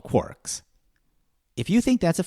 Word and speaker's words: quark: Paging through Finnegan's Wake, I saw 3 quarks for Muster Mark. And of course it's quark, it rhymes with a whole bunch of things, mark, bark, and so on and so forth.